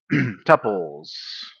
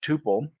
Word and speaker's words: tuple: Uh tpples. A tuple, usually pronounced tpple or tuple, stores a collection of data like a list, but is immutable.